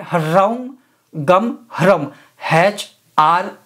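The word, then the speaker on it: ह्रीं: गोपन मंत्र में बीज है rim Harim H are double E M Harim Harim नहीं और सिर्फ रिम नहीं ह का साइलेंट होगा जो थोड़ा बहुत आपको सुनाई देगा हरिम अब इसको क्या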